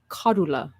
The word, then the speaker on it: Cordula: But her name is actually Kadula, but nobody can Cordula.